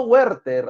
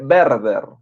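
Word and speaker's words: Werther: del joven verde ya no huerter Ah si no se escribe Así sí huerto pero se lee verde ya la W va a sonar como una V en el Alemán verde tenemos por aquí rimas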